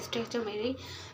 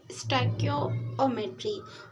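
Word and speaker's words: stoichiometry: तो मैंने जो है अभी स्टाइक्योमेट्री, बेसिकली आप इसको स्टैक्योमेट्री बोलते हैं. This is नॉट ए स्टैक्योमेट्री because this is स्टाइक्योमेट्री.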